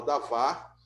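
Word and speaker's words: דָּבָר: seria davar ou dabar, se escreve dabar, mas se fala davar, que seria a mesma coisa que logos.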